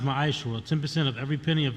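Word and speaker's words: מעשר: Means 10th in the Hebrew and it's pronounced Ma'ashra.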